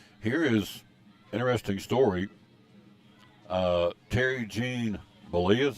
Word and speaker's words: Terry Gene Bollea: Terry Gene Bollea is how you say his name, known as Hulk Hogan.